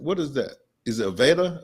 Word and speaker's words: Aveda: Is it Aveda? Avita? Aveda.